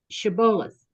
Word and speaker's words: Shibboleth: If they mispronounced it with an S rather than an SH sound, it gave them away, being a unique indicator of their dialect.